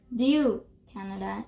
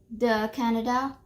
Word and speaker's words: du Canada: So remember to pronounce du Canada and not the Canada or they Canada.